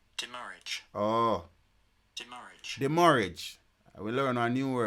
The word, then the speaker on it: demurrage: DEMURRAGE, meaning. Here, pronunciation. Demurrage.